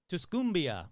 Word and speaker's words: Tuscumbia: Tusia will be looking at how to Tuscumbia. Sure, why not? But this Tumbia isn't in Alabama. It's in Missouri. So, let's go with Tuscumbia.